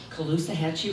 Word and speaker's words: Caloosahatchee: no longer accepting poisoned water, toxic air, increasing cancer rates, and the death of the Caloosahatchee River.